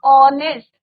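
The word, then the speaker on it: honest: एन ऑनेस्ट, तो यहाँ पे भी एच इज योर साइलेंट और प्रोनाउंसिएशन किसका आ रहा है? ओ का, ऑनेस्ट।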